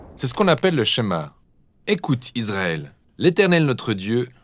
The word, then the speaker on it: Shema: de toute sa force le premier mot du schéma est écoutée ou entendre prononcer chemin en hébreu et c'est ce mot